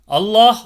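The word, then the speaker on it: الله: உச்சரிக்கப்படும்ன்றதுதான் இதுல பார்க்க போறோம் அல்லாஹ் மற்றும் அல்லாஹும்ம என்ற வார்த்தைக்கு முந்தைய வார்த்தையில் உள்ள கடைசி எழுத்து ஃபத்ஹ் அல்லது வம்மா செய்யப்பட்டிருந்தால் அந்த லாமை கனமாக உச்சரிக்கணும் அதாவது அல்லாஹ் அப்படின்ற வார்த்தையை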